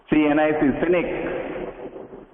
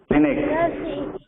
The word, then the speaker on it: scenic: Sir, what is this pronunciation? S-E-E-N-I-C. Seren. S-E-C-N-I-C. Scenic. Scenic.